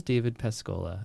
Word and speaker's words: David Pascolla: an introduction for you today so this is david pescola is that the correct pronunciation got it michael okay right on right